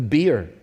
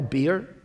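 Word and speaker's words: bier: word this morning because i think americans pronounce it the beer do you do do you pronounce b b-i-e-r beer yeah why did you do that it's a b-i-e-r by er how did it come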